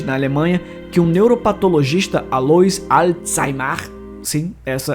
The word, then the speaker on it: Alois Alzheimer: Foi em 3 de novembro de 1903, na Alemanha, que um neuropatologista, Alois Alzheimer, sim, essa é a pronúncia correta, deu uma palestra demonstrando tudo o que tinha descoberto sobre a doença.